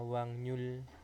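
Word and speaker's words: 확률: dari katanya itu adalah Wak Rul itu dibacanya menjadi apa wangnyul ya wangnyul Itu bisa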